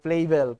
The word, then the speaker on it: Flavel: Ang iba ang basa ay Flavel, pero ang tamang bigkas ay Flavel.